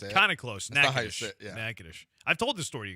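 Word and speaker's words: Natchitoches: Nakosious, but that's not how you say it. Kind of close. Nagish. Nagadish.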